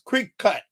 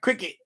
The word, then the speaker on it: Cricut: So it's Cricut, not Cricket, but it's pronounced Cricut or Cricket, something like that.